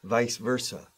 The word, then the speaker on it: vice versa: Que suene la V en inglés. Al decir esto. Vice versa.